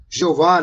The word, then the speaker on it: Jeová: tentavam colocar aqui Jeová eles usavam Exatamente Essa pronúncia em português Jeová né que é j e h o v h oh jehova né os portugueses usavam isso